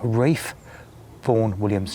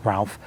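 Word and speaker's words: Ralph Vaughan Williams: is the birthplace of one Reef phone Williams yes not Ralph Ray form Williams was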